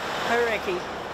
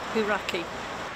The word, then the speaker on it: Hauraki: Hauraki. Hauraki. Hauraki.